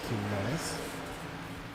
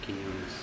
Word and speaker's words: Quinones: It is Quinones. You actually had it quite right. Yes, because who in Spanish is quien. It's pretty close in spelling to that, so Quinones.